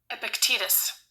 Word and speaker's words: Epictetus: It is spelled Epictetus. Epictetus.